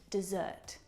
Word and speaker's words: dessert: Desert and dessert. There is a slight pronunciation difference here, and it's simply a matter of syllable stress. In desert, the stressed syllable is the first syllable.